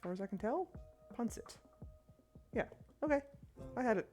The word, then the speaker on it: pancit: Okay, but it is an S sound. I think. As far as I can tell, pancit.